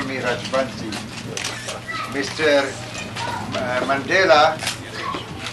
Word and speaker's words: Rajbansi: Call me Rajbansi. Mr. Mandela pronounces my name better than any Indian.